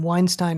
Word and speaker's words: Weinstein: point out to them weinstein rhymes with hying that's all uh they